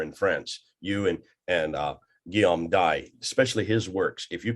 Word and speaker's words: Dye: And we shall do that. We shall do this. Guillaume D, or you can pronounce Dye if you want, but French it's D-Y-E.